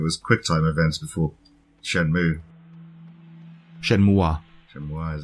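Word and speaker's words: Shenmue: it me or Pac-Man keep calling it Shen muui like that's not a correct pronunciation anyways Shen mu so we've been calling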